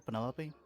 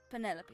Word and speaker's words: Penelope: delightful penny pointer pleasure is that short for penelope officially yes but i never can be bothered with all four syllables of it penelope sounds a little ostentatious